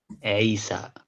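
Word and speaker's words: عيسى: No, Isa. Isa. Or that's a pretty American accent. In Arabic, it's Isa.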